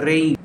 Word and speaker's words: reign: ইট was during the রেইন অফ আকবর, এটা ছিল আকবরের রাজত্ব। REIGN উচ্চারণটা হবে রেইন, মানে রাজত্ব।